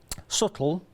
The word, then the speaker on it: subtle: Subtle is what it is, with a silent B.